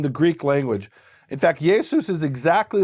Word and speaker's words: Yesus: In fact, Jesus is exactly like writing Shimon as Simon in Hebrew letters, and here they wrote it Jesus in Greek letters.